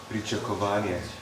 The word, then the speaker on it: Pričakovanje: Pričakovanje.